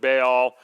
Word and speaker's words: Baal: Now, some people pronounce it Baal, some people pronounce it Baal, and he is the sun god.